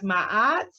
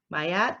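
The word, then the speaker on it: Ma'at: we have my Yachts sometimes pronounce ma'as mayat my at who is an Egyptian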